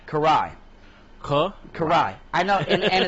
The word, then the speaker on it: Karai: I I can never enunciate your name oh Corey Karai kuh Karai I know and it's funny because reading the